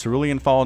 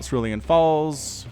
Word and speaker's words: Cerulean Fall: But it's Cerulean Fall, not Cerulean Falls, not Cerulean, Cerulean.